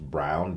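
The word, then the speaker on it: Braun: bro I called it I called him broad but I guess his name is pronounced Brown b-r-a-u-n they kept saying that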